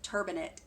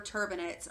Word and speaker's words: turbinate: if you need a better explanation that it's turbinate tu r bi na te looks like turbinate so septoplasty and termina traduction refers to straightening up your septum and reducing the size of whatever turbinates are causing the obstruction in your nasal passages